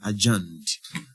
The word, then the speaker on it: adjourned: And take note the letter D on adjuned is silent. So it's adjuned.